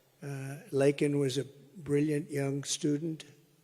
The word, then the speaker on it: Laken: lak Riley you know Laken very well now and after months of prodding him Biden couldn't pronounce her name he said he said Lincoln Lincoln Riley and Lincoln Riley is the football coach the coach and uh